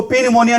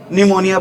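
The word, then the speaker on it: pneumonia: spelling आ जाती है पी silent होता है यहां पर निमोनिया की स्पेलिंग में क्या आता है अी प आता है इसको पी निमोनिया नहीं बोलेंगे क्या बोलेंगे अी निमोनिया बोलेंगे बताओ बीमारी का नाम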